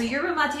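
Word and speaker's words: yerba mate: disrupts digestion yeah so yur mate is spelled like Yura mate you guys yeah yur mate y e r b a m at te and you'll see it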